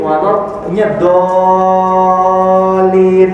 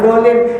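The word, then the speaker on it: ولا الضالين: Terus siratal ladzina an'amta 'alaihim ghairil maghdubi 'alaihim waladdallin. Jangan dolin, itu di ujungnya ada tasdid double L.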